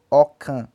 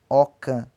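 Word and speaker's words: ọ̀kan: Número 1 em Yorubá pronuncia-se Okan. Okan.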